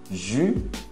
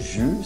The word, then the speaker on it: jus: Suco de frutas, jus, é o U, aquele biquinho do U mesmo, jus, você não pronuncia o